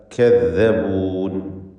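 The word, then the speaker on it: كَذَّبُونِ: കദ്ദബൂൻ, calf ഇസ്തിഫാലിൻ്റെ തർക്കീഖ് ചെയ്യേണ്ട അക്ഷരം. ദാല് വ്യക്തമായി മഖ്റജിൽ നിന്ന് ഉച്ചരിക്കുക. കദ്ദബൂൻ.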